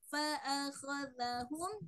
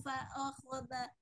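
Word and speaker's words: فَأَخَذَهُمْ: Nah, di sini ada huruf za ya. Jadi kalau huruf za itu dijelaskan lagi. Ana izin membaca fa'asau rasula rabbihim fa'akhadhahum. Jadi tidak fa'akhadha.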